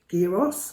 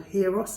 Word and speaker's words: gyros: I love the gyros, or heros as they, some people call them gyros, but I think the Greeks pronounce it as heros, I believe, or gyros, gyros I think they say.